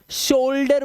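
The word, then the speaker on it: shoulder: बहुत जरूरी है आपको जब किसी शब्द में ओ यू के बाद एल दिया हो तब ओ यू का जो उच्चारण है वो ओ होगा सिर्फ ओ अब देखो यहां पर इसीलिए इसे शोल्डर बोलते हैं शोल्डर ठीक है क्या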